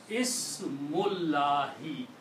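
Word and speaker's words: اسم الله: If we read them combined, it will be Ismullahi, name of Allah. Okay. We do not pronounce this alif here. Okay. So it becomes Ismullahi.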